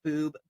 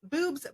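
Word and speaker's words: Bube's: group Miley Paranormal, offers investigative experiences into the Boob Brewery. The brewery often maintains a resident paranormal team and encourages guests to bring cameras while exploring. Some spirits especially enjoy skeptics. Locals and visitors alike frequently mention Boobs Brewery in discussions of haunted places all across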